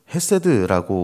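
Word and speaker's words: חסד: 그 성품은 계속해서 오늘 이야기하고 있는 인자하심에 대한 이야기인데요.이 인자하심은 헤세드라고 우리는 발음하는 히브리어 단어를 사용하고 있습니다.이 헤세드는 언약에 기초한 하나님의 신실하고 변환없는 사랑 자체를 이야기하는 것이 헤세드입니다.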